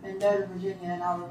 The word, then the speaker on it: Mendota: That's right, Mendota, M-E-N-D-O-T-A, Virginia.